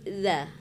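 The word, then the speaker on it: ذ: ya kan kemudian eh pengucapan huruf dza dza itu jangan sama seperti ini huruf z z kalau Z banyak desirnya kan kalau D tidak ada destirnya w wadza ujung gigi ujung lidah ya tempatnya wadzabu ya ada berapa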